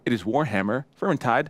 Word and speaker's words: Vermintide: You just Vermintide. Vermintide. Vermintide. Yep. Ed is unsure of our pronunciation.